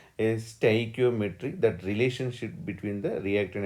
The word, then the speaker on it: stoichiometry: Somebody will pronounce stoichio, but depends. This is stoichiometry.